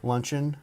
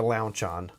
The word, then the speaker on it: Lauchon: Lauchon. Lauchon. Luncheon. Launchon. Oh, there's no N. Okay, Lauchon. Lauchon. Not luncheon.